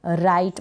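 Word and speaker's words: write: डब्लू आर, र पढ़ेंगे राइट, मतलब डब्लू यहाँ पर साइलेंट है, डब्लू आर को र मान ले, या फिर आप ऐसे भी कह सकते हैं कि डब्लू यहाँ पर साइलेंट है तो हम आर से स्टार्ट करेंगे।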